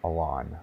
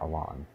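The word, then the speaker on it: Alonne: boss anyway is Sir Alon I think that's how you pronounce it a-l-o-n-n-e Alon um you might name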